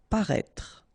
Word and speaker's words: paraître: s'excuser de paraître paraître remember you accent circonflex on the top of e but then you don't pronounce it and then insist on this final parêtre paraître s'approcher de OK c